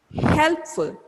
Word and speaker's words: helpful: So where should you give stress now? Where should you give stress now? At the beginning, at this HEL. Helpful.